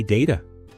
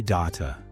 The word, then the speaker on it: data: Some people say data. Others say data. Both are acceptable in English.